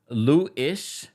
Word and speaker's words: Louis: Lou-ish equals Louis. That's how you pronounce it, babe.